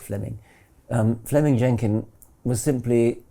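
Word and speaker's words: Fleeming: So Fleming Jenin was simply it's written fleeing but is pronounced Fleming.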